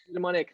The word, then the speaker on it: eudaimonic: Eudaimonic. Eudaimonic, that's the one. I wrote it down phonetically and I'm sure it's wrong.